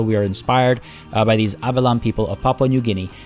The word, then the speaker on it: Abelam: I believe I'm pronouncing Abelam correctly. Abelam. I'm not 100% sure. It's Abelam.